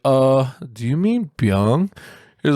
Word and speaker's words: Byung: like uh this guy invented the search engine bing before before yo i raised my hand up i was like oh do you mean byung he's like oh yeah oh that makes more